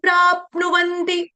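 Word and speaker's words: प्राप्नुवन्ति: आघात लेना है वो आधे प का उच्चारण करेगा क्योंकि आगे जो है संयुक्त वर्ण आ रहा है प्र ते प्राप्नवती ते प्रापनवंती वंती ते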